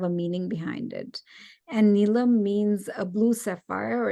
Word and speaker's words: Neelam: poetic manner in Hindi now if you pronounce my name nilam it means something that can be auctioned off right and each time I hear nilam I cringe but often when I'm in a new setting some people people especially in America will pronounce my name nilam because I think it's typical to have an emphasis in the middle of your name and I've seen many